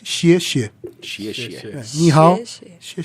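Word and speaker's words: 谢谢: E se você quiser falar obrigado, a gente tem que apertar a língua bem forte e falar 2 sílabas iguais. Xie, xie.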